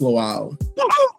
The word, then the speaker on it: Lawal: Please help me welcome the angelic troublemaker himself. Now, did I say your last name correctly? Yeah, it's pronounced lal.